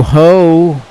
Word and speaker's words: Hoh: That was Matthew Hoh, which rhymes with show and H2O.